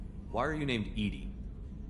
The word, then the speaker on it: EDI: Why are you named Edy? Edy is the phonetic pronunciation of EDI. That is an acronym for enhanced defense intelligence.